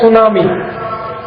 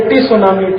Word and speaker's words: tsunami: जैसे एक अंग्रेजी शब्द है सुनामी, तो बोलते हैं सुनामी, लिखते क्या है? TSUNAMI। तो बोलना चाहिए टी सुनामी, टी सुनामी, टी सुनामी, टी सुनामी। कहते हैं जी टी साइलेंट है तो क्यों लगा दिया, हटा दो वहां से अगर साइलेंट है।